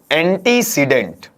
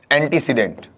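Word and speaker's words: antecedent: अनुसार इसे लिया जाएगा यहां यह टर्म है इसे पढ़ा जाता है एंटीसीमेंट क्या पढ़ते हैं इसे एंटीसीमेंट और इसे हिंदी में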